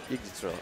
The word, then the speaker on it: Yggdrasil: How is that pronounced? Yggdrasil. Yggdrasil. Oh, Yggdrasil.